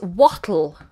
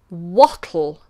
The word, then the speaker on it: what'll: The next contraction is wattle. Wattle.